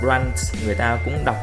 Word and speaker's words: runt: Về lý thuyết, có âm 't' , nhưng khi nói nhanh, người bản ngữ phát âm "runt" giống hệt như "run". Với những ai chưa biết,